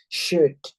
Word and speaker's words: should: Itu OLD itu kita baca UD aja gitu ya. SH dibaca sha. Should, would, could gitu.